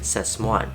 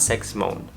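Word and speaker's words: Sasmuan: sex moan in the Philippines it is actually pronounced as says one not sex moan but says one and up to 1991 the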